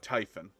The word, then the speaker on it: Typhon: was by the way you said typhoon's name wrong it's Mr typhoon it's Tech it's actually uh tyen yeah oh it's still